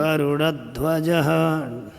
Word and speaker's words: गरुड़ ध्वज: प्रमेयात्मा केशवो गरुड़ ध्वज ड का उच्चारण होगा कि र का होगा गरुड़ ध्वज गरुड़ ध्वज हम ड दिया है गुरु जी हां ड आ जाएगा ना वो गरुड़